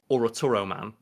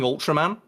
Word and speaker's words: Ultraman: They call him it's fucking Ultraman. I mean, obviously, there's that thing of, like, the L and R sounds in Japan aren't really, like, translated.